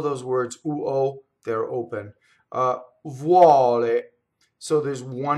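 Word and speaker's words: vuole: So the U in this case is just a W, right? It's a semivowel. Vuɔle, but from the U position, right? Semivowel. The UO almost always opens the O in Italian, like fɔco, right?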